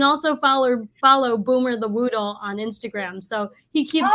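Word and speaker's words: Whoodle: yes you can also follow follow Boomer the Woodle on Instagram so he keeps quite busy so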